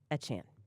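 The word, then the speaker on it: Achane: too hard it's aan by the way Devon a Chan got it yeah just I have to pause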